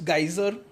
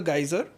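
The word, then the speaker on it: Geysir: You go forward is the famous geyser. In Icelandic it's just pronounced geyser.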